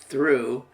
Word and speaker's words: through: go sound in it and this word is pronounced through and it's a homonym for the past tense